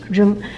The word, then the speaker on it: 扔: Okay, 扔. So this R is R sound. Just remember, it's R.